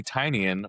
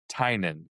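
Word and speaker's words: Tynion: well most people say Tinyian but I've listened to him say his name and it's Tynen. So Tinen so the I is silent.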